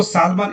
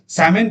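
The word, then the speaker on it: salmon: जैसे आप देख सकते हैं यहां पे सीप शीप मतलब भेड़ आपने देखा डियर स्वाइन इसको सालमन एल नहीं पढ़ते हैं। ये साइलेंट है। साम सामन पढ़ते हैं इसको।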